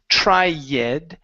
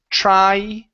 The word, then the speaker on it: tried: Now, your eds were good on a couple of these others, but here this E is not pronounced. So, instead of saying try, it's tried.